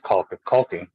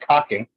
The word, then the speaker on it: caulking: It is caulking. Colk. Colk. What? Caulking. Yeah, caulking. It ain't cocking. Yeah, it's just the Caulking. way everybody pronounces it, but it's colk. Yeah. There's an L.